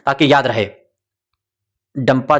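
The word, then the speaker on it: Dampa: मिजोरम में कभी-कभी डंपा इसका नाम दे देते हैं। कभी डांफा दे देते हैं। बहरहाल जो भी हो उसका प्रोनाउंसिएशन उनकी अपनी भाषा में होगा। बाकी मिजोरमियम की लेकिन इसका डंपा आपको याद रखना है।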